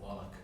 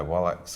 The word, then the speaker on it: Wallach: And Tuco, Eli Wallach, will know, I'm about to get a pronunciation correction here. I can see it in your eyes, Tom. I would say Wallach.